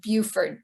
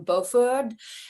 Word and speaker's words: Beauford: the way it's pronounced beaufort delaney scholars who haven't um heard anyone say the name tend to get all frenchy with him and call him beauford and after baldwin moved